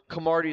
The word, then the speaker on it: Camardi: Okay, so Camardi is a very Italian name, right? c a m a r d As Lexi how it's spelled exactly how it sounds.